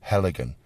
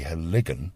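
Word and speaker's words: Heligan: So they put the stress on the first syllable, and they'll say Helligan. Of course, it's wrong. It should be Helligan.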